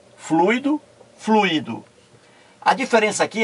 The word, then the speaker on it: fluído: Aqui, ó, fluído é diferente. Fluído, fluído, três sílabas.